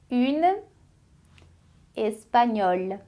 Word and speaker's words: espagnole: É porque o L, que era o final, ele é pronunciado em francês.